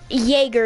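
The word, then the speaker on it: Jäger: Then Frost, and then Jaeger is how you pronounce your character.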